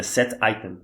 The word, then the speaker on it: setItem: Set significa definir, item é item. Item é setItem, é a pronúncia correta.